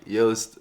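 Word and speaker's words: Joost: name is jose now try to pronounce that correctly jost it's a dutch name so good luck and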